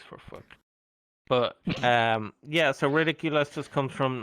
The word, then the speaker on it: Ridik_ulass: people actually know that his name is Ridiculous. They think it's Riddick Ulas.